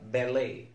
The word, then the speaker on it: ballet: الحالة الثالثة لصوت التي هي في الكلمات التي تشتق من اللغات الأخرى كاللغة الفرنسية، زي الكلمة المشهورة بالي بالي بالي. كلمة بيري بيري بيري ما اسمهاش باليت ولا بيريت.